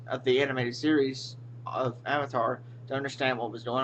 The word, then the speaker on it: Avatar: And it's not Avatar, it's Avatar.